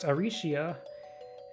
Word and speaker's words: Arsia: be transliterated as like arcia in japanese is pronounced arishia um and i kind